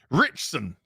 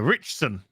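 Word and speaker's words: Ritchson: with the five dollars his father said it's pronounced richson helpful i know he just literally just spelled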